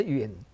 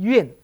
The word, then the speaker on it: 远: 怨小人，不是怨恨远近的远，这个地方是动词，念成怨亲贤臣怨小人，什么